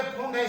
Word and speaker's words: Pfund: तो 5 सीरीज जो हमारी है, लाइमन, बामर, पास्टन, ब्रैकेट, फुंड, पढ़ते फुंड है, स्पेलिंग पफुंड है, PFUND, और हम फरी, ये